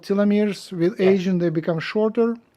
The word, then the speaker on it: telomeres: it in in and elongates your telomars um they're pronounced telomeres thank you thank you for